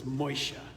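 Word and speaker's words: משה: Moses is Moshe.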